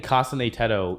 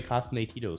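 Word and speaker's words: 重音テト: at this point that saying Kasaneto even though that's the right pronunciation just feels wrong at this point. I almost want to say Kasito still, but I'll say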